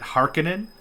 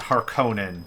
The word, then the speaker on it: Harkonnen: understand the pronunciation in the latest dune movie pronounces it harkenin but i'm old school and i pronounce it harkonnen because that's just how